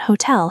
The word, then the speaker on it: hotel: Notice that hotel has the stress on the second syllable. Tell. That is the big drum beat at the end.